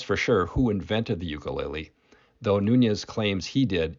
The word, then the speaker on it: ukulele: their very small size the proper pronunciation for ukulele is ukulele and how it got